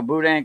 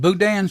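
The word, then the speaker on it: boudin: a day it's called Budan sausage Budan yeah Budan Budan yeah Budan the the end is silent oh bu budah bud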